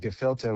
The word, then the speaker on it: Gephilte: And he put together this project called Gephilte, which is a klezmer jam band. Gephilte, like gefilte fish, usually spelt with an F, but in this case, it's spelt with a PH, which is a bit